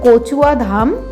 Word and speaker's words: Kachua Dham: है जिसको बंगाली में क्योंकि प्रोनाउंस इसका होता है कोचुआ धाम तो कछुआ धाम में